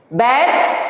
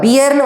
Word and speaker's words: bear: யூஸ்வலாக நம்ம நிறைய பேர் இது வந்து ப்ரொனவுன்ஸ் பண்ணும்போது இதை பேர்னு வாசிக்காமல் பியர்னு வாசிக்கிறாங்க. ஆக்சுவலி இதனோட கரெக்ட் ப்ரொனன்சியேஷன் என்னென்னா பேர் தான்.